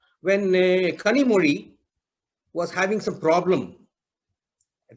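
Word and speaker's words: Kanimozhi: He pronounced the Z also. This is how we are writing it, Kanimozi instead of Kanimori.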